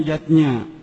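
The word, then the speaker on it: yajña: Yatnya tulisannya yajna ayah bunda, tapi membacanya yatnya.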